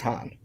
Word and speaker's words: Han: weird thing is that leia also says it like that han in that scene because i think she was acting opposite billy d williams who was saying it wrong and just picked it up from that but like no no point did someone say actually it's han weird to me yeah